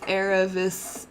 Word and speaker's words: Aravis: Name pronounced Aravis the Tarkia.